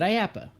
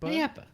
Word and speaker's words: IAAPA: Star Wars Galactic Star Cruiser Resort during today's IAAPA, horribly long acronym, keynote. So Yeah, but you just say it. IAAPA. IAAPA? IAAPA.